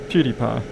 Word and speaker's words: PewDiePie: PewDiePie is doing, yeah. It took me ages to work out how to properly pronounce that guy's name. PewDiePie.